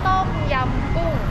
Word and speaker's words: ต้มยำกุ้ง: ต้มยำกุ้ง How to pronounce that? ต้มยำกุ้ง Oh, Tom Yum Ko.